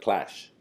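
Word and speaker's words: Qlash: and you started this it's spelled q lash right clash clash yeah yeah yeah well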